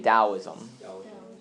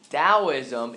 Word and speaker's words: Taoism: with the TT AO is M everybody say Taoism all right so it's spelled with the T but it's kind of pronounced with that and Taoism its purpose is to achieve harmony with nature